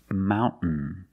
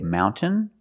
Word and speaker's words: mountain: understand this trade example Mountain you can say mountain or Mountain this girl tablet speaks